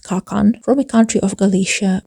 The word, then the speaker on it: ka/kan: Alex Easton, a sworn soldier, pronounced Kakan, from a country of Galicia, which is somewhere